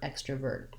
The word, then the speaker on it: extrovert: It sounds like so I have extra, and then again, same ending, vert, extrovert.